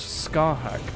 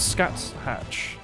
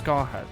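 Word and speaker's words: Scáthach: It's Irish, it's pronounced Scarhack. Sorry, so it's not Scat Hatch, it's Scarhack.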